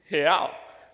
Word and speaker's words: real: See, in Portuguese, the way that you say real is real. So let me teach you how to say it. So on the count of three, let's say he. So it's hey, but without the E sound.